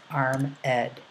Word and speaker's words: armed: back to turn again the word armed is actually going to be in two uh syllables so it's armed if you put a an accent over the Ed you're going to see that that's going to add a syllable and uh Spencer does